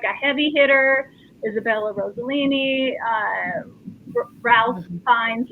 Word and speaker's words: Ralph Fiennes: Isabella Rossellini, Ralph Fiennes, or Ralph Fiennes, however you say his name. Rafe Fiennes, John Lithgow, Stanley Tucci.